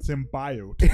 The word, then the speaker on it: symbiote: Yeah, hey, Jenny, it's symbiote, not symbiote.